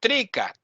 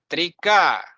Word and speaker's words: Trika: You are learning Trikashaivism and you're pronouncing Shiva. No, Shiva. Not Trika, Trika. Not Trika, like some teachers pronounce.